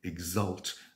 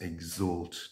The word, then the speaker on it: exult: this evening and um apologies for mispronouncing exult as exalt twice during the during the